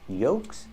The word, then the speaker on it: yolks: at these two words yolks and folks with both words we do not pronounce the L the L is silent in both words yolks are an eggs